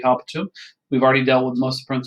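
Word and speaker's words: habitum: So let's start with the first word here, which is habeo, habere, habewi, habetum. That is how you say it. You always do the 4 principal parts, right? So habeo, habere, habewi, habetum.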